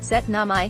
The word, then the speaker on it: syttende mai: it's pronounced setna my and it's even more